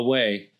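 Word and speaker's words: OUAI: a i dot com pronounce the way and use code believe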